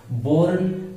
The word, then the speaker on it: borne: Boren and born, pronunciation is the same, born and born, but it is different meaning.